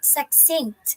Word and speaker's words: succinct: Okay, it's pronounced as succinct.